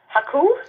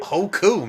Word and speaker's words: Hoku: mean I'm gonna love Haku. Is that how you say her name? Hoku, man. Don't put some Oh, okay, sorry. That doesn't mean I'm gonna love Huku.